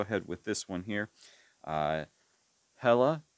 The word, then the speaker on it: Hela: Hela, which that could be pronounced Ella, I suppose, because, well, if it's pronounced in Spanish, H would be silent and the L's would sound like a Y.